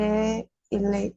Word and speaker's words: est: Le verbe être, E-S-T, on prononce E. E. La lettre S, la lettre T, on ne la prononce pas. On ne les prononce pas.